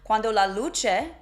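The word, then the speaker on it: luce: Do you hear L U C E or do you hear L O C H A H spelling it phonetically la is how he sang it luche is how you would say it but I'm going to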